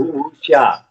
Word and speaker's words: Wuxia: Is it wuxia? How do I pronounce it? Is it Wuxia. Xia is pronounced like Shia.